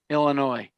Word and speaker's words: Illinois: First of all, Illinois. The S is silent like the P in swimming.